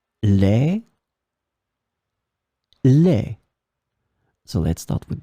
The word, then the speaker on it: lait: In this lesson, we will see together two words that are written differently but pronounced the same way. Lait, lait.